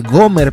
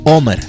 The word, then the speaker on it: omer: En esta versión de la Biblia dice Gomer por la influencia del sonido, de la pronunciación del griego, pero el formato original que era en hebreo es omer.